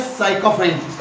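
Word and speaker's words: sycophant: मैंने उच्चारण किया साइकोफ्रेंट। ऐसे ही उच्चारण करना है।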